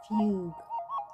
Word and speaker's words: Fugue: Fugue. So it's like Hugh, but with F.